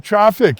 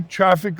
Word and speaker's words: Traefik: Let's talk about the history of traffic if you don't mind. Sure. You know again probably a traffic labs company that maybe a lot of our folks haven't heard of.